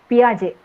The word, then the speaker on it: Piaget: development was given by piaget p i a g a t p r j t is silent uh you will find